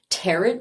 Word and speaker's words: tarot: all of these like tarot reader predictions right now. Not tarot. what I was tarot. Tarot. Is it tarot or tarot or tarot? It's not tarot. It does not rhyme with carrot.